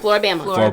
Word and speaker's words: Floribama: Floribama.